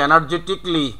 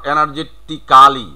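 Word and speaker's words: energetically: এনার্জেটিক্যালি, তাহলে এনার্জেটিকলি, নট এনার্জেটিক্যালি, এটা আর বলা যাবে না।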